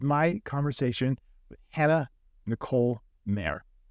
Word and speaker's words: Maehrer: spelled weird it's just may may like a horse or Mar down yeah exactly yeah it's a funky spelling for a really easy pronunciation for some reason and